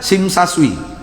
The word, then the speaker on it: Tsim Sha Tsui: dewan site namanya masjidnya masjid tsim Sha Tsui nama Mesir Mbak Pesing kesah sesuai bacanya SIM Saswi hilang tv-nya itu bahasa